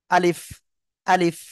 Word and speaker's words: আলিফ: অক্ষরটা সঠিকভাবে উচ্চারণ করা আলিফ অক্ষরে যেহেতু টান নাই আমরা টান দিব না ঠিক আছে আলিফ আলিফ আমরা এভাবে পড়বো ওকে আমি সবাইকে বুঝাতে